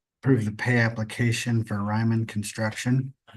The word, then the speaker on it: Raymond: Pay application number one, Raymond Construction or Raymond. How do you say that? Ryman.